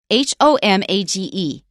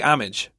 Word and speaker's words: homage: how do you say h-o-m-a-g-e uh I I always say homage that's right and now they still leave the H out but they say homage okay it's really funny